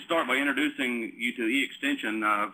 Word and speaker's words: eXtension: some time to look at that it is pronounced e extension um it's it's a uh uh collaborative effort